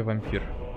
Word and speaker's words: Vampyr: На Англии Vampire читается Vampire, а вот Vampyr читается просто, как на нашем языке, вампир.